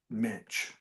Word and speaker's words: Mensch: Leave the C out, and then that's how you say it. Mensch.